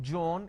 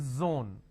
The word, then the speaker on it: zone: jar it's a mispronunciation it's not jibra it's zebra it's not john it is zone it's not g it is zeal it's a z sound another mistake that people